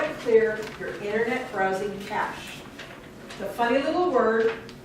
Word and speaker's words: cache: time you want to clear your internet browsing cash the funny little word it's pronounced like money cash money but it's spelled see a CAG if